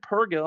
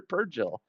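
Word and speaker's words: purrgil: some good stuff but he always says per Peril the he did once he said perill I'm like yes you did said it right then he went back to perill I'm like the hell man or per purgill puril it's like Virgil okay so now we're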